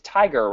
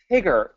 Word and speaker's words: Tigger: pronouncing your name right it's tiger right no it's Tiger but it's okay oh Tigger gosh darn it it's two G's oh two G's Tigger okay I will remember that